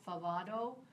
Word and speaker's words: Favado: One is called I think it's how you pronounce it, Favado.